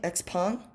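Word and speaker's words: XPeng: at look look look look i remember xp x-pawn that's how you pronounce it correctly i heard so x-pawn got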